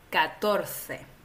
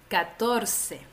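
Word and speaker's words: catorce: en inglés c Entonces el número 14 en la mayor parte de España con excepciones en Andalucía se pronuncia 14 y si vas a América Latina la mayoría de los países hacen lo que se llama el ceseo es decir que se pronuncia la c como una s entonces en América Latina vas a decir 14 y en España 14 A ver vamos a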